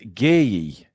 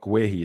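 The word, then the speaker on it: Gueye: Ali B says it's pronounced Gay. Uh there's a Crystal Palace video. Gay. Yeah. Gay. Yeah. So not gui, it's gay. Gay.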